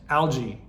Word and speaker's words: algae: About the only drawback that I can see is that it uses copper to help maintain chlorine levels and reduce algae.